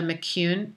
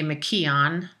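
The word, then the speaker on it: McKeown: very good friend amanda McCune MC Keo and she insists that I pronounce it the Irish way because she is an Irish girl i would say mckean in American English but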